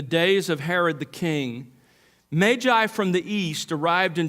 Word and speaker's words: Magi: beginning say to you that I'm going to pronounce it that way throughout the sermon Magi because as I learned a few years ago